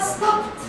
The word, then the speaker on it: stopped: So, started, but stopped. On prononce t.